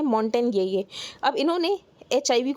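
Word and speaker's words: Montagnier: यहाँ पर इनकी डेथ हो गई है, जिनका नाम है लुक मॉन्टेन ये यहाँ पर प्रोनाउंसिएशन है कि यहाँ पर मॉन्टेग्नियर है, पर उसको प्रोनाउंस करते हैं मॉन्टेन ये।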